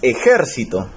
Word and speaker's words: ejército: La esdrújula, ahí tenemos ejército. Esa es una palabra esdrújula y se tilda, ¿por qué?